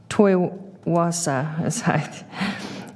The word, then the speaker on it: Toi Hoa: Glenn served tour of duty in Vietnam 1967 to 1968 at Toi Hoa, pronounced Toi Wasa, and he retired from the United States Air Force in 1975.